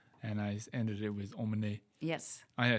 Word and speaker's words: emmener: When you have a verb that ends on ER, this ER is pronounced E. The R is silent.